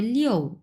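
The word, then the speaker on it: 六: হবে না এটা হবে লিও যেহেতু চার নাম্বার টন চার নাম্বার টন যেহেতু সেই ক্ষেত্রে আপনার হবে লিও এর আগে আমরা কি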